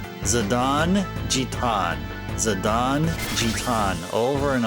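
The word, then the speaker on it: Zidane: His name's actually pronounced Zadon. So that that's that's like a lifetime's amount of uh brain retraining I need to do. So Zi D A N E supposed to be pronounced Zadon. Zadon.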